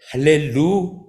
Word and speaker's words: 할렐루야: 할렐루야 히브리어에서는요 히브리서 이것을 할렐루야 야가 가장 포커스를 받게 되죠 받으시게 되죠 야호의 하나님